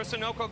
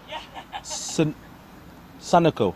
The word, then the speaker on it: Sunoco: Timeout for Sunoco Go Rewards.